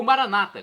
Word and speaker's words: Maranata: aramaico Eu Clamo Maranata como dizemos nosso católicos com a tônica na última sílaba o Maranata com a tônica na penúltima sílaba como dizem nossos irmãos separados os evangélicos ou protestante não importa a pronúncia